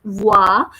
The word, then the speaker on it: voix: work then we have a combination sound which is oh I and it is pronounced as voix so the sound is becoming wah and after that the